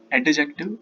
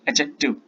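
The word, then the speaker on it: adjective: बहुत सारे लोग इसको प्रोनाउंशिएट करते हैं एडजेक्टिव, तो इट्स नॉट एडजेक्टिव, इट्स एडजेक्टिव। सो डी यहाँ पे साइलेंट होगा, इसको हम प्रोनाउंशिएट नहीं करते हैं, तो इट इज कॉल्ड एडजेक्टिव।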